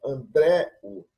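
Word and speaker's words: Ἀνδρέου: Símonos e Andréu, melhor dizendo, Andréu. A sílaba tônica é essa, ó. Delta, Rho, som de R, e Epsilon está com acento agudo.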